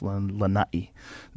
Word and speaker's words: Lanai: the island of lanati you got to say it right I usually say Lanai but it's Lanai they have 3 000 people